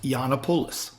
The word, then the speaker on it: Giannopoulos: I went to another website and put in the name, and globally it's pronounced Yiannopoulos. Mm-hmm. So if I go anywhere else but the U.S., right, it is Yiannopoulos.